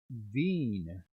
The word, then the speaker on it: Veen: and last up zach veen you know what when you say his name fast it sounds like magazine but different who is that green